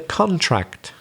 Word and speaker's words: contract: have you signed the contract so we stress the first syllable because it's a noun it can be a verb and of course then we've got to stress the second syllable for example spain's economy